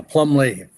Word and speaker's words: Plumlee: Is it Plumbley? Is that the pronunciation? Right. You got it. Yeah. Plumbley.